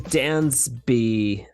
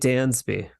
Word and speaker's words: Dansby: it we have Dansby yeah Dansby Dansby yeah like the great more like a z Dan's B yeah so pronounce it more like a z instead okay like the great Dansby that's right as opposed